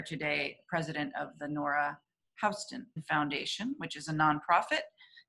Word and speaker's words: Houston: And by the way, there's some debate as to whether the name is pronounced Houston or Houston. I think the more accepted pronunciation is Houston.